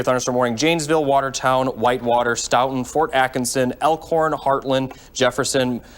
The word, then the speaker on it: Stoughton: It's pronounced Stoughton.